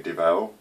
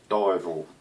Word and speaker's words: Devel: Now, all the doctors say Devel. Go to hospital, they pronounce you Devel. It's actually pronounced Divel, as in diving, dive, and all. Divel, odd name, but that's the correct pronunciation.